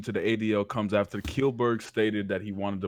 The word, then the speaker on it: Kjellberg: The original announcement about his donation to the ADL comes after Kilberg stated that he wanted to move past his former controversies.